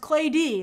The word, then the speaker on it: Claudie: Oh, it's pronounced clay D, like clay that you make pots out of.